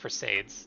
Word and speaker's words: Perseids: I believe that's pronounced Perseids.